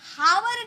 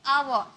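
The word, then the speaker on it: hour: okay, आवर, आवर, क्या हम बोल रहे, जब भी हम हावर नहीं बोलते, इसे हम हावर नहीं बोलेंगे, आवर, एच साइलेंट होता है, एच चुप रहता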